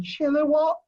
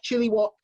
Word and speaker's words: Chilliwack: message i got from chilliwack i'm gonna try and pronounce that correctly normally i'm on stage and someone could pronounce it chiller what chili wok anyway there up in